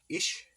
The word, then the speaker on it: ich: Ish. Ish? Yeah, it's spelled ICH.